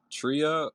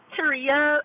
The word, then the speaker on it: Taria: Is it Tria or Treya? Help me out. Oh, it's Taria. It's like Maria with a T.